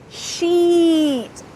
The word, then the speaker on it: sheet: Sheet, sheet, and shit. So here we have a long E and a short I.